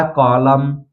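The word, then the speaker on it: column: इसी तरह कॉलम, फिर है हाइम, तो इन चारों वर्ड में आप देख सकते हैं यम एन साथ में आया है, इसलिए यहाँ पर यन का उच्चारण नहीं हुआ है, यन साइलेंट है, सीधा यम का उच्चारण किया गया है।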